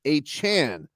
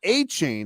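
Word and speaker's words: Achane: team that moving forward he would like to his his name pronounced Devon a Chan not a chain as it is currently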